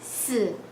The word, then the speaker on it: 死: 4, it's also the same sound. You pronouncing the word of die and dead. It's 死.